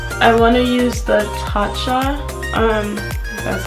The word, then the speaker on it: Tatcha: I want to use the Tatcha, that's how you pronounce it.